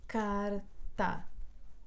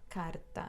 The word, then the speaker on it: carta: primo é falso bom então carta última penúltima o acento recai na penúltima sílaba carta Oi gato gato última